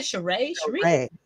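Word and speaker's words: Sheree: um drew and cherie shuri how did you pronounce her name properly i would say cheray okay cheray we're having for me i thought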